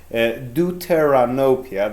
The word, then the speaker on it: deuteranopia: term for this is deuteranopia that's how it is pronounced in english the words are a